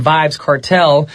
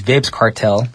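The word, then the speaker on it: Vybz Kartel: no no no featuring vibes cartel my apologies earlier i did say his name was vibs cartel that's what i pronounced it wrong so i i guess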